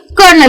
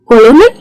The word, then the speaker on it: colonel: कोलोनल नहीं, इसका pronunciation है कर्नल। तो इसमें स्पेलिंग में तो आर है ही नहीं, लेकिन बोलते वक्त हम आर यूज करते हैं।